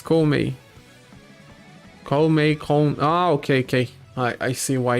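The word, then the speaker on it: 孔明: The Japanese pronunciation for Kongming is Koumei.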